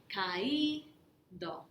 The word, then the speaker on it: caído: And notice the accent on the I, caído.